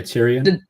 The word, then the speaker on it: Tyrion: Um, Tyr Tyrion. Is that how you say it? Oh, yeah. Tyrion.